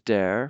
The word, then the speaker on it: der: of the definite article from dare to dane that's how you pronounce that d and dane but